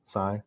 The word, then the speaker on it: Sai: correct is that even how you say your name Sai is that how you would say it Sai that's how I would